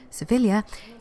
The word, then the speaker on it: Sevilla: Beautiful Andalusian capital of Seville, or as the Spanish pronounce it, they should know, Sevilla, is famous for many things.